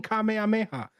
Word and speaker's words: kamehameha: there's videos out there people butchering kamehameha they're saying like mommy like this is legit come on come on come on there's something something there's videos out there go youtube it of people pronouncing the name wrong even though the intro video of that when you get the the goku the goku patch is him doing a kamehameha and saying kamehameha so why are people getting